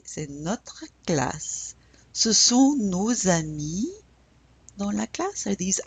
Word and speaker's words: nos amis: Why are we pronouncing that S now? Yes, because it's in front of a vowel.